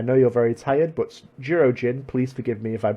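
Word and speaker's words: Jurōjin: I know you're very tired, but Jirojin, please forgive me if I'm pronouncing that incorrectly.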